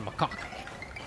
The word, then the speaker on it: macaque: Not macaw chief, it's the macaque. I'm dead serious, that's how they say it.